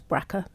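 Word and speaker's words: BRCA: um to check for what they call is braa that's that's the way we pronounce b RCA braa um which is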